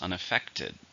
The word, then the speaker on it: unaffected: harmed it's an adjective how many syllables unaffected there are four stressed on the third unaffected the train was